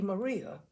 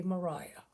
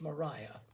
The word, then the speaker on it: Maria: Therefore, this is not going to be Maria, this is going to be Mariah. Because as far as I know, that is the way the English pronounce that name. It's Mariah.